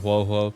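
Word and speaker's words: Huohuo: But anyway, Ho Ho. I call her Ho Ho because Pokemon. I know you guys are pronouncing it Huo Huo. Huo Huo. I'm not doing that.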